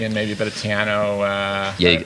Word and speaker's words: Tejano: You go from him and you associate Texas with country and maybe a bit of Tejano. Did I pronounce that right? Excuse me. Yeah, Tejano.